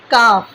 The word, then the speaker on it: calf: Calf, calf, calf. L is silent here.